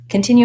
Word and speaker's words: continue: let's look at continue continue has three syllables and it has second syllable stress we can see that